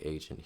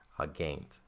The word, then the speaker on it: agent: lead and then aain you might be tempted to say agent here but that's your English slipping in it's going to be a hard G always in Latin a gain okay so they will